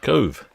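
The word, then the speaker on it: Cobh: shipmate Tammy nerdinger says is cob pronounced Cove yeah I think it is if you're if you're Irish I wouldn't worry about too much but yeah in an Irish way C sort of a soft but but I'm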